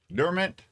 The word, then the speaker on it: Dermot: My best friend's my best friend's wedding and Young Gun star Dumont. How do you say that? Dermot.